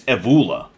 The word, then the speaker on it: Evola: if Eva Iola Evola it bothers me that I still don't know how to pronounce his name um actually it's evula evu evu um what